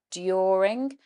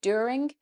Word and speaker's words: during: We would also say during with the y, during, dia, during, whereas you guys would say during.